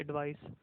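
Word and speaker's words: advice: यानी सी वाले को जब आपने प्रोनाउंस करना है ना तो उसके एंड पे स का साउंड आना चाहिए, एडवाइस।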